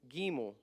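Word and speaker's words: גימל: third one would be the gimo not g giml it's a long I giml giml it's a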